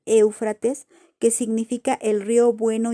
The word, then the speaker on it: Éufrates: río pues fíjense que la palabra éufrates viene del griego que también se pronuncia igual éufrates que significa el río